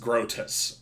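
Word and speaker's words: Groetus: oh what ET us yeah his name is pronounced grotus my bad rodus got it then desna seems to be working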